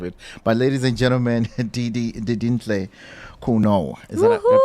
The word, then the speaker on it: Didintle Khunou: But ladies and gentlemen, Didintle Khunou. Is that I pronounced the last name correctly? Yes, Didintle Khunou.